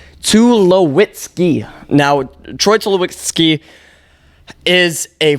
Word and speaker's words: Tulowitzki: Troy Tulowitzki. Now, again, luckily Baseball Reference has the pronunciation Tulowitzki.